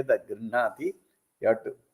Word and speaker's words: गृह्णाति: grihnati, you have to, the stress is on the grinha. So we have to be careful that we don't stress the gr. So gr is soft. Dadati prate grihnati. Gr should be soft.